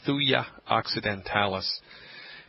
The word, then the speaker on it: Thuja occidentalis: It's homeopathic Thuja occidentalis. You spell that T like Thomas, H-U-J-A.